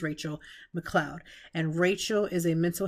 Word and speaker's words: Rachelle McCloud: today we have relle actually I said that incorrectly it's Rachel now her name is spelled like relle like literally on paper it's spelled like Michelle but her name is Rachel McLoud and Rachel is a